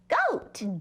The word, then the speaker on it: goat: one does the talking when two vowels go walking the first one does the talking and so our o is the first one and it's gonna say its name oh oh and the a is silent so it says let's try